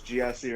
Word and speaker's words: Gyasi: my name is Gyasi, right? I don't pronounce it Gyasi. It means wonderful in Swahili. How they pronounce it in Swahili is Gyasi. So either pronunciation.